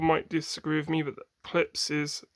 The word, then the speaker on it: Klipsch: Most people might disagree with me, but klipsch is how it's said.